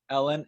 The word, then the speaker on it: Helene: can learn more about Ellen at her website which I'll I'll say it phonetically Helene comm H is silent or you can go to programmatic digest comm hey everyone my name is Ellen I am a